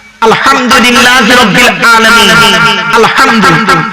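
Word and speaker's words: الحمد لله: আরেকটা দেখেন, এই মা বোনেরা ভালো করে শুনে নিন, আলহামদুলিল্লাহ সূরা পড়েন না, আলহামদুলিল্লাহি রাব্বিল আলামিন, আলহামদুলিল্লাহ এই গলার ভেতর থেকে এটা উচ্চারণ করুন, বাপেরা হাতে ধরে বলে যাচ্ছি আলহামদুলিল্লাহ মানে হচ্ছে সমস্ত প্রশংসা আল্লাহ তোমার।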